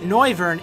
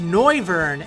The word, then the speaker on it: Noivern: and 187.5 lb now whether it's pronounced Noivern as in noise or nover as in Noir like